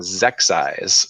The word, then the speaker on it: Xexyz: And then for Mega Man, I found Zexyz, which I don't even know if that's how you pronounce it, but it's spelled XEXYZ.